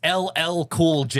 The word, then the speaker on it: LL Cool J: Uh, you're I you you you got you're saying it wrong. Am I saying it wrong? It's ll cool J.